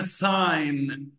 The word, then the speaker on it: sign: بصوا حبايب قلبي, الكلمة دي اسمها sign, الجي سايلنت, sign language, sign language, Sign language.